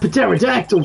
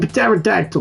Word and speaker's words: pterodactyl: Well, there was that pterodactyl flying through the sky.